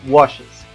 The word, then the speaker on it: washes: Ahí si se dan cuenta ya no pronuncio wash, sino washes. ¿Sí? Le agrego ese es al final.